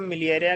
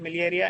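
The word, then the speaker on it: miliaria: यह स्टेट मिलेरिया कहलाती है। मलेरिया नहीं है ये। ठीक है? मिलिएरिया है।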